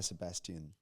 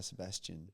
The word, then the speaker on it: Sebastian: you're in Adelaide they'll say Guy Sebastian pronounce the T a bit more the Royal Australian Maybe I've Maybe I've been on the East Coast for too long.